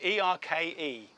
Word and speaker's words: Erke: I think it's pronounced Erk Marine, E-R-K-E. Yeah. Turkish, Erke.